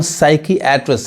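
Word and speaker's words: psychiatrist: अब ये देखिए यहाँ पे इसको हम साइकियाट्रिस्ट, साइकियाट्रिस्ट पढ़ते हैं, यानी ये पी क्या होता है, पी साइलेंट होता है।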